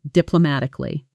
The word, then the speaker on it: diplomatically: She handled the disagreement diplomatically. Notice the rhythm. Diplomatically, the stress lands firmly on ma, and the ending softens quickly, almost swallowed in fast speech.